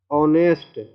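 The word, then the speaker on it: honest: जैसे कि लिखा हुआ है ऑनेस्ट, एच साइलेंट है, एच से शुरू है लेकिन एच साइलेंट है, और एच के बाद वॉवेल है ओ, तो इसका उच्चारण क्या हो गया?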